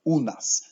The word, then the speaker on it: u nas: a look at that Oona's we see the letter u always in Polish it will be pronounced ooh and then the letter A always pronounced as ah so we have illness